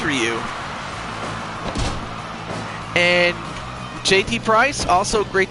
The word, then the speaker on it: Ryu: I somehow pronounced Ryu for some reason. Well, it is Ryu.